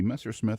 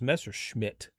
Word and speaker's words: Messersmith: A lot of people think it was Messerschmitt. It's Messersmith. Messersmith.